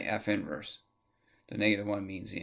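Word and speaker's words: f⁻¹: one you know what you don't say negative one at all you say f inverse the negative one means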